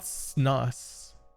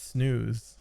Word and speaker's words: snus: what is jasper theory it's not it's not snus it's snooze that's how it's pronounced unless nico has been